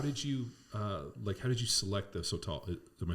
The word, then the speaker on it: sotol: So you opened Desert Door, and how did you select the Sotol? Am I saying it right? Sotol, yeah, like a toll road.